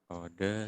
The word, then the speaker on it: oder: Nah, ini R di akhir kata nggak dibaca ya kalau di bahasa Jerman. Nah, dibacanya oder sie.